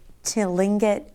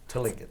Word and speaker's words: Tlingit: What else do we know about, and they're the Tlingit people of Alaska? Tlingit. Yes. Tlingit. Okay, it's a hard word to pronounce.